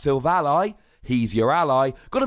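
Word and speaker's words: Silvally: lie and I assure you it is definitely pronounced Silve a lie he's your ally got a bit of arguments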